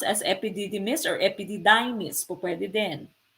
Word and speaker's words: epididymis: deferens or letter this proton this one is pronounced as epididymis or epd diamonds popped in okay which one